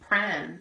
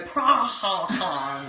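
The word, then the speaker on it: Prahran: Yeah, no, it's kind of like when people come to Pran in Melbourne and they go, Prahan.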